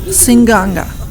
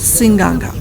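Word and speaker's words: Seaqaqa: approaching a little town it's called Singh Ganga and there's no end in the spelling but it's called sing Ganga many places the names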